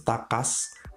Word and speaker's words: TACAZ: cas tulisannya memang pacar cuma cara bacanya itu tak cas goldah Google Translate sebelumnya